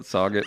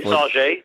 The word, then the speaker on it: Sauget: I want you to call it Sauget when you get over there. Somebody. Is it really Sauget? It's Sauget. It's a French pronunciation.